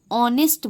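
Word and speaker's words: honest: क्योंकि ऑनेस्ट एच जो है वो क्या होता है? साइलेंट होता है। तो एच जो है वो साइलेंट होता है। तो ऑनेस्ट बोलते हैं हम लोग।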